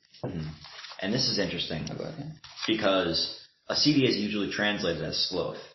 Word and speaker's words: acedia: Okay, so now we get into leisure, idleness, and acedia, or sloth. Acedia.